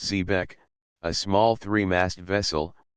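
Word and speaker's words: xebec: Sea after a shipwreck zebec pronounced zebec a small three mased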